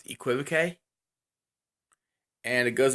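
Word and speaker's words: equivoque: I'm saying this correctly you quit ok used to say it a different way but apparently I was saying it wrong so to pronounce equipo que and it goes like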